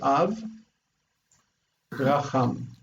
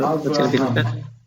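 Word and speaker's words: אברהם: So Av is a closed syllable, so we want a short vowel. Yeah. Mm-hmm. When you close it with shva, Av. Okay, and then same. But it's an open syllable. The accent's here. Open syllable. Long vowel. Long vowel. Avra. And also the accented syllable generally takes long vowels.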